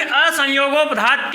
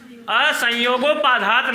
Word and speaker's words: असंयोगोपधात: ठीक है, चलिए अब उसमें लिखा गया है कि असंयोगोपधात किम ना, पुस्तक में देखिए लिखा गया है, क्या लिखा है? असंयोगोपाधात नहीं है, असंयोगोपधात किम। सही उच्चारण करिए आप।